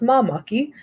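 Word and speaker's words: māmaki: So it's pronounced mamaki.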